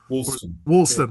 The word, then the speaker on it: Woolston: Walston is how it's pronounced, right? Woolston.